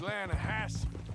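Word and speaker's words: Lannahechee: it runs right near here yeah but it's pronounced laying a Hass why is everything in English said differently than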